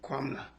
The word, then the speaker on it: Kwamina: Did that lead you to Kwamina? Am I pronouncing that correctly? Kwamina.